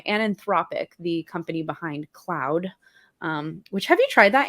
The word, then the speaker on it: Claude: So I think it's CLAUDE, Cloud, Okay. Claude, however you want to say it.